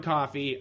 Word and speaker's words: Coffey: Yeah, and then there's this one prisoner that they refer to as John Coffey, and Like the drink, but not spelled the same.